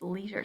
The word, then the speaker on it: leisure: It's not quite s, and it's not sh, it's leisure, somewhere in between.